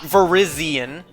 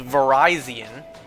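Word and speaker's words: Virizion: Verizonian. All right. Not Verizian, folks. It's not how it's pronounced. It's pronounced Verizonian.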